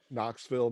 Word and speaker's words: Knoxville: i liked because uh both have the silent k knoxville knuckles get it um that